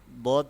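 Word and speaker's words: ضاد: হচ্ছে নেক্সট হরফে যাব দদ হচ্ছে একটি মোটা হরফ যেমন দদের উচ্চারণটা হচ্ছে মোটাভাবে হবে।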